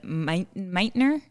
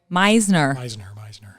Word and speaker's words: Meisner: You can tell me how you say it. Meisner. God, my typing is got yeah, because there's a T means S, I guess. I don't know what language that is, but that's okay. Meisner, yes.